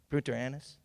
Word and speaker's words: Punta Arenas: While stationed in the coastal town, I'm going to have to pronounce this right, Punta Arenas?